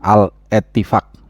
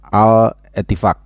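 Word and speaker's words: Al-Ettifaq: Al Ettifaq bacanya, harus jangan berhenti, harus nyambung terus. Al Ettifaq.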